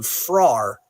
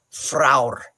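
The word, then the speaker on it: Frár: at the Nordic one, there's a dash above it. So it's fraur. And the R at the end is its own syllable. So it is most likely fraur, because R's are often added as their own syllables.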